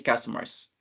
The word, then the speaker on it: customers: Esa de acá, if it rains, there's not many customers. Entonces, esa palabra, customers, ¿cómo se escribe? Se pronuncia customers. Como si hubiera una A acá, una abierta. Customers.